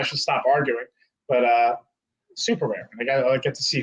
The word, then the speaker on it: Superare: chat's actually italian he he did the double r because it's pronounced super rare but it's which obviously